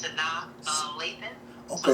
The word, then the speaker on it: Sanaa: Yeah, her name is Sanaa, just like the actress Sanaa Lathan.